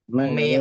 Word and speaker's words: may: May I know your name? May I know your name? May bacanya ya jangan my tapi may.